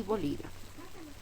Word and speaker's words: bolígrafo: Y bolígrafo. Bolígrafo. La que se pronuncia más fuerte es li. Por tanto, es nuestra sílaba tónica.